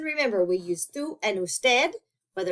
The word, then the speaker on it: usted: As you might have noticed, usted and ustedes are very often abbreviated to capital U, lowercase d period, and capital U, des period. Okay, still going to be pronounced usted and ustedes.